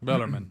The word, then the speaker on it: Bellarmine: enough better men is how everybody says it bellarmine but the word m-i-n-e is mine yeah and most in most english countries it is but they defeated